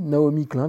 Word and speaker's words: Naomi Klein: Le choc des utopies, Naomi Klein, comme ça se prononce, Naomi et plus loin Klein, qui était une étudiante de Noam Chomsky, donc on va les appeler comme ça, les activistes américains.